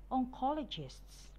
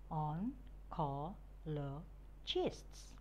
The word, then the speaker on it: oncologists: raw low chests neurologists oncologists on core low chests oncologists pediatrists i twist podiatrists